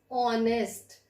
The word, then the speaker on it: honest: have consonant before that but here it is silent and we start up start speaking this word as honest so Oh sound is